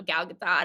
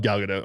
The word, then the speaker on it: Gal Gadot: fandango yeah i talked to the you know gal gadot and chris pine out there um and that